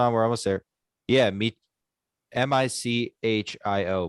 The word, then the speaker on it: Michio: i closed spotify kaku michio no i don't know if that's right hold on hold on we're almost there yeah me m-i-c-h-i-o michio right i would assume yeah yeah michio and